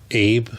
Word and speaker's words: Abe: I ordered this one off of Abe Books. Abe. I've heard people say ABE, but it's spelled Abe. I'm saying Abe.